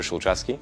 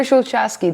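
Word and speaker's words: Szulczewski: overview hi i'm peter schulzewski the founder and ceo of wish peter schulzky that's how you say it peter schwelski i'm sorry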